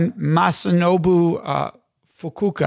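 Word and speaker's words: Masanobu Fukuoka: You recommend a book called One Straw Revolution by Masunobu Fukuoka, I believe is the pronunciation.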